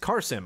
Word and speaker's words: Qasim: By the way, my name is pronounced Carsim. I will try to remember that. Spelled Qasim, pronounced Carsim, just to make your life easier.